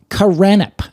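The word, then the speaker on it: Kurannup: of Souls and so the term is karip which is the the kind of like the land that's beyond the Western sea and that's spelled k u r a n n u P the land beyond the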